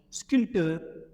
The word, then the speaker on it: sculpteur: pe il suffit pas on le prononce pas on voit pas dire SC non non on dit sculpteur on va pas dit